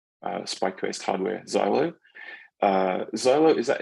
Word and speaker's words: Xylo: Quest Hardware Xylo uh Zolo is that it's it's pronounced like xylophone it's actually from um